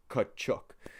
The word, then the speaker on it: Katchouk: And it's spelled a little different than the Katchouk brothers. It's actually like how it sounds, like Katchouk.